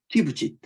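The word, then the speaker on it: TÜV SÜD: 튀브짓. 독일어 발음으로 하는 게 좋아요.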